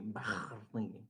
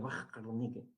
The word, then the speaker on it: Warnecke: Ya, ustedes tienen que decir ahí, pues, muy bien, Carla, de Warnecke, Warnecke. Así dice que se pronuncia, Warnecke, porque es un alemán, ¿no?